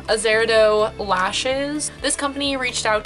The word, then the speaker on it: Azeredo: so this is reviewing my Azera dough Zahra dough I think it's pronounced and I'm so sorry about butchering it um Azura dough lashes this company reached